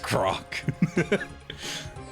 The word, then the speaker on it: Grok: It's pronounced Grok.